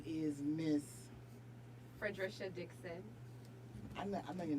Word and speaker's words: Fredrisha: But now, especially in a professional setting, I insist on being called Fredrisha, and every adult should be able to pronounce that.